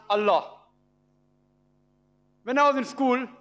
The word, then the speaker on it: Allah: wrote a l h they pronounce ella we pronounce allah when i was in school i was taught